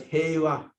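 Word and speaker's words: 平和: The top one is pronounced as heiwa, and the second one, lower one, is unknown.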